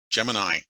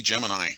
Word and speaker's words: Gemini: Gemini. Supposed to be Gemini. I've been pronouncing it wrong all these years.